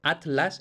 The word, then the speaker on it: Atlas: forma diferente por ejemplo en Atlas yo pronuncio Atlas y digo atl entonces vemos que hago el grupo heteros silábico en dos sílabas diferentes mientras que por ejemplo